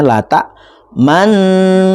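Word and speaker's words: لَا تَأْمَنَّا: Lata manna bacanya lata manna. itu asal katanya lata manuna wala talmizu anfusakum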